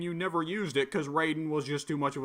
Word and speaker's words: Raiden: cuz we're all combat Raiden is Raiden ra y de N and what's spelled with an i you pronounce it with the Y but then Metal Gear riding is right in but I keep reversing it and calling one the other and it's killing me